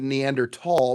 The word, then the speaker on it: Neanderthal: Uh which I just said Neanderthal because that she explained to me that is actually how it's pronounced, and I said, "Well, aren't you smart?"